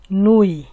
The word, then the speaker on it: nuit: আর নুই বানানটা তো একেবারেই সহজ, এন ই নু ই তে ই নুই, তে উচ্চারণ তো হবে না।